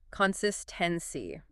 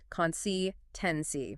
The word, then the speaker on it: consistency: Now, this is a longer word. Consistency. The stress is on the second part there. Consistency.